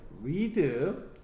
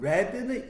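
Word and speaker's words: read: 갑니다 리 얘는 주의하세요 리드 똑같아요 근데 리드리드 리드가 아니야 발음이 달라져요 드레드 레로 바뀌어집니다 그래서는 읽다라는 뜻이고요 레드는 읽었다 과거에 읽었다 레드는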